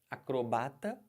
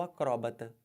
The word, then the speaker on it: acróbata: Você pode falar acrobata ou acróbata. Ó, acrobata ou acróbata. Os dois estão certos, fica a seu critério, a sua escolha, você pode usar qualquer um.